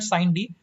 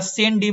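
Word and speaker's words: sine die: Adjournment साइन डी, actually इसका पूरा नाम है एडजॉर्नमेंट साइन डी, या सेन डी बोलते हैं, कुछ भी आप मतलब प्रोनाउंसिएशन में थोड़ा सा ये कर सकते हो आप लोग।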